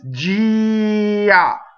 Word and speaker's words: già: Già. Now, you would never separate the E from the A like that. This is a disappearing semi-vowel, right? It's just there to make a Y, right?